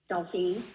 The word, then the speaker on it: Dolphin: How do you say it? Dolphin or Daffine? Dolphine.